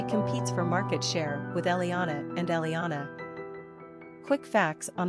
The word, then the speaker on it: Elianna: for market share with Eliyanah and Eliyanah. Quick facts on Eliyanah. Gender, girl. Origin, Hebrew. Number of syllables, 4. Ranking popularity, 706. Pronunciation, E-H-L-E-A-H-N-A, E-L-E-A-H-N-A.